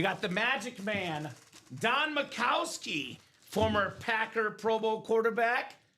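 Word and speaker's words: Majkowski: It's not Mikowski, it's Macowski. proper pronunciation JSA certified for Dan.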